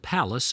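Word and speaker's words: Pallas: I do not know it's called Palace spelled like Dallas not like the Pink Palace at Queens Park and it's just one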